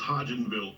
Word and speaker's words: Hodgenville: How do I pronounce that police department? Help me out. It is Hodgenville, Kentucky.